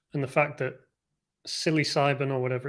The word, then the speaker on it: psilocybin: It's a play on psi sound and the fact that psilocybin or whatever it's called sounds like, in pronunciation, it has a P at the front, but it's pronounced S.